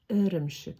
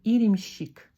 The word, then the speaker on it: ірімшік: Читается эрмшик. Не иремщик. Ага. Не еремщик. Ага. А эрмшик. Мягко, тонко. Эрымшик.